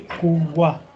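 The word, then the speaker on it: قوة: will stop at Raunta, you will pronounce it like ha. So say kuwa.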